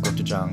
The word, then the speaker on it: gochujang: put your change and I know it's pronounced scripted John but that that doesn't rhyme with Gucci gang so I'm I am